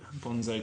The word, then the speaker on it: Bonnezeaux: B O N E Z E A U X G O N Z Z O Bonzo Gonzo. So it rhymes, but it's just a stupid thing to call your blog if you want people to find it.